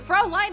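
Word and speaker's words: Fräulein: What do you mean the Americanized pronunciation? Fraulein is how you say that.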